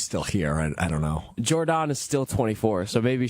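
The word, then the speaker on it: Jordon: It's Jordan, but you can say Jordan. Because that's how it's spelled. Yeah, There's two O's.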